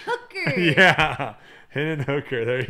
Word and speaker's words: Hooker: GF double H's Henry rhymes with Booker except with an H hooker yeah HD and hooker